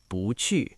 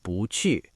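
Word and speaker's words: 不去: Hãy nhớ sự thay đổi thanh điệu, vì "qù" là thanh thứ tư, "bù" là thanh thứ hai lên. "bú qù". Phát âm là "bú qù".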